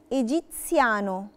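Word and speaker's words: egiziano: جالي الحرف ده ما بين اتنين حروف ساكنه بنطقه تس. تس في تي قبليها، مثال عليها كلمة ايجيبسيانو.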